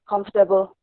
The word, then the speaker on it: comfortable: here the next word according to the spellings it will come out to four syllables like conformable but in it should be pronounced as comfortable comfortable yes i have